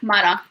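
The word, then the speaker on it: حمارة: No, that's even vowel. It's like Hmara, like this, and that's like mean donkey.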